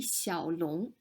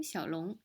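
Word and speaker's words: 李小龙: will feel a bit more at ease italy xiao long lisa family name xiaolong small dragon his given name in this red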